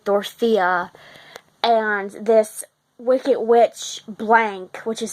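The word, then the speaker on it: Blanc: in Oz with Dorothea and this wicked witch blank which is spelled b-l-a-n-c um is the destroyer of all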